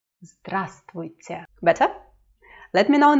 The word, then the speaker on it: Здравствуйте: This V is silent. Здравствуйте. Здравствуйте.